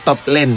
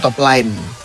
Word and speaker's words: top lane: Ingat ya bacanya top lane bukan top line.